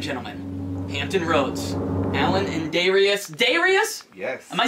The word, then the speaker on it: Daijreous: Ladies and gentlemen, Hampton Roads, Allynn and Daijreous.